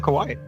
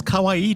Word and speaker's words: kawaii: why' you call him Kawaii well he's not an anime guy is he Jonathan right yeah but it's a hairstyle and pronounce it correct it's Kawaii Jonathan not Kawai Aurora a second pick